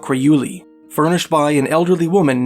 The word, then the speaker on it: Urayuli: The author, John Active, described an old Yupik legend about the wildman, referred to locally as the Urayuli [pronounced Oq-ra-you-lee] furnished by an elderly woman named Tunguyamarnan.